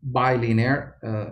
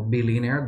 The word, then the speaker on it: bilinear: thing is that it must be bilinear or or b linear depending on how you prefer to pronounce it i prefer b so b linear means